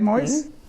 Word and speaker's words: Moiz: With us right now is Ali Moyes. Did I pronounce right, Moyes?